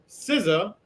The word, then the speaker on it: SZA: SZA, good job. I butchered her name so many times.